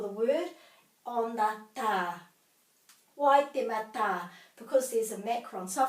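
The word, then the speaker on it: Waitematā: So we're going to have a break here after every vowel. Wai, te, ma, ta.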